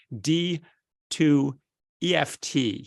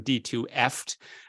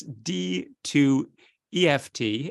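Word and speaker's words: D2EFT: of second line regimens it's called d 2 EFT I think that's how you say it rather than d2fft but it's D to EFT and the d2ef T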